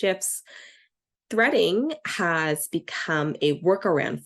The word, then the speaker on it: GIF: images videos or gifts I understand it's actually technically pronounced shfs threading has become a